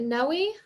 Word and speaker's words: Noe: um and then no is it noe am i pronouncing that right yes no we okay excellent you spoke